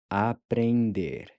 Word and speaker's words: aprender: Aprender. Aprender. Aprender, to learn. Aprender. So remember that the en is pronounced more like ain.